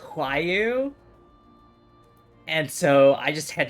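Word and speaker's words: Roaille: character whose name is spelled r-o-a-i-l-l-e and it's pronounced why you and so I just had to be confused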